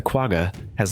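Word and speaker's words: quagga: its southernmost subspecies the qua has long been extinct the qu's name pronounced quaha comes from the koi koi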